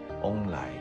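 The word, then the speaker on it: 旺来: 南那边，他们喜欢把菠萝叫做旺来，因为他们的发音是翁来。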